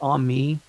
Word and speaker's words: ami: those books the am it's it's pronounced on me it like amigo yeah or Mon Ami it means friend that's all it means right